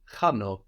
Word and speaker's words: χάνω: The verb I lose or I'm losing is χάνω, χάνω. Χάνω. So that's spelled with a letter that looks like an X.